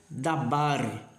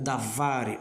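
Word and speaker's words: דבר: E aí você pronuncia dabar ou davar, ok?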